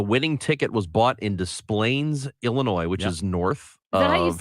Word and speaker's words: Des Plaines: So Des Plaines, Illinois. Yeah. The winning ticket was bought in Des Plaines, Illinois, which is north Is that how you of say it? Yes. Des Plaines.